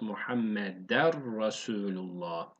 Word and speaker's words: Muhammeder Resulullah: Bu nun harfini yani ne sesini siliyoruz. Bir tane re ekliyoruz. O zaman nasıl okuyacağız? Muhammeder Resulullah. Re değil, ra kalın okuyacağız. Yani a sesi vereceğiz.